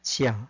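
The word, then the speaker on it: 家: 그러니까 가라고 하면 이게 집가자가 됐든 뭐 여가 가자나 휴가 가자가 됐든 가라고 하면 키아의 준말이 되는 거죠. 그 다음에 중국식으로 발음하면 지아가 됩니다. 지아.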